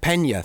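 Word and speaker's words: Peña: of the film The other thing is Michael Pina I think and forgive my pronunciation Michael Pina Pena Pena thank you very much he's amazing he's in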